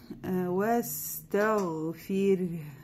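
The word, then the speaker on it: وَاسْتَغْفِرْ: Ва стауфир. Ва мягко, потом гамзатальвасаль, которая не читается. Син придерживаем, да, не даем ей, чтобы получилось как палкала.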